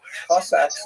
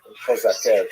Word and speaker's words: Cossacks: Cossacks, or Kozake, to use the Ukrainian pronunciation, were basically Ukrainian peasants